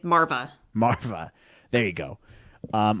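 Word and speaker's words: Maarva: cast because I'm not gonna be able to pronounce any of these it's Marva Marva there you go um I liked her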